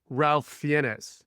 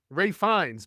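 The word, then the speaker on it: Ralph Fiennes: Actor and he reads Ralph fenes that was my conclave joke I like that you called him Ralph penis I thought so right because how that's pronounced or find Ray fines but I was saying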